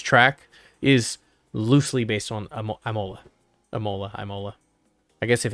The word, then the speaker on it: Imola: is loosely based on amola amola mola i guess if it's italian not italian it's probably imola not imola i guess you don't say it like a hard eye but yeah so i